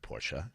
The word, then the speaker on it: Porsche: That is going to be Porsche, the 2-syllable word Porsche.